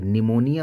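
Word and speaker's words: pneumonia: बात करते हैं कि जैसे निमोनिया वर्ड लिखते हैं तो उसमें लिखा जाता है देखिए पी एन और उसी तरीके से पी साइलेंट हो जाता है निमोनिया में उसी तरीके से हम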